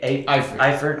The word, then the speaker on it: Eifert: So Andy Dalton did lean on the new tight end, Tyler, how do you pronounce it? Eifert.